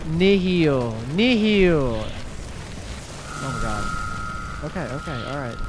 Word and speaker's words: Nihil: It's Nihil. Oh my god. Okay, alright. My bad. Am I saying it wrong? Okay, not this way either, I guess. Okay. I probably did say Neil once. But it's Nihil.